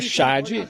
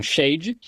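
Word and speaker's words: שד: Na verdade, a palavra hebraica Shad, S-H-A-D, alguns pronunciam Shade.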